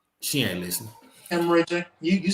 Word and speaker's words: hemorrhagic: Hemorrhagic.